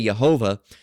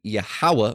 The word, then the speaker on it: Yahawah: Now they say Yhovah. Now we know that it should be Yahawah because there was no V's in ancient Hebrew.